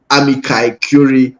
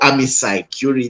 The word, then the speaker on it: amici curiae: when it comes to amici curiae or amici curiae, depending on how you want to pronounce it.